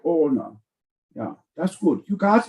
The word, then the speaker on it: Hohner: It's pronounced with an H, but silent, like Hohner.